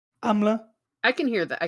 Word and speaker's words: Amleth: saga of of uh they pronounce it amleth it's not how you pronounce it that's a very latin pronunciation i'm gonna butcher it but i think would be like amlodi or amla i can hear that